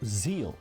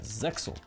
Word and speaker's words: Zexal: Before people send me to the Shadow Realms for my pronunciation, YuGiOh Zeal is the original Japanese pronunciation, but in the Zeal. dub it is pronounced as Zexal, which is what I will call.